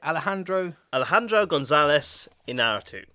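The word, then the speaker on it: Alejandro González Iñárritu: Alejandro González Inarritu.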